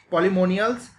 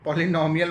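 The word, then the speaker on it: Polemoniales: बहुत ही अच्छा एग्जाम्पल है जैसे ऑर्डर पॉलीमोनियल्स, ठीक है, पॉलीमोनियलिस, ये जो है इसको ऐसे प्रोनाउंस करते हैं पॉलीमोनियलिस, ठीक है, पॉलीनोमियल मत बोल देना इसको, पॉलीमोनियलिस बोलते हैं इसको।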